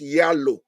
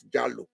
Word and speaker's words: Jalo: My name in Norway is Yalo, not Jalo.